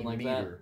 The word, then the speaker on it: Demeter: Yeah, it's Demeter. D E M E T E R or something Demeter.